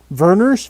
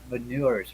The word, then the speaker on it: Vernors: So, Mike, tell me once again, how do you pronounce that ginger ale? Vernors, Vernors. It was Okay, because I don't know why I always thought it was veneers or something.